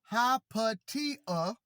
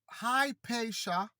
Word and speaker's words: Hypatia: Hypatia, correctly pronounced Hypatia, Englished Hypatia or Hypatia, was the daughter of the mathematician Theon of Alexandria.